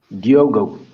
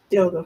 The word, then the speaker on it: Diogo: How do you say your name? Is it Diogo or Diogo? Diogo, Diogo. Okay. it's a Portuguese name.